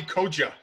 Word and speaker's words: Koca: It's Koca. Koca. Koca. The C is like okay. A J, yes.